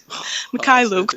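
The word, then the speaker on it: Mykhailiuk: How do you pronounce Svi's last name? McCullough. How you say Say it it? again. McCullough. Mikhailuk, but I mean, Mikhailuk.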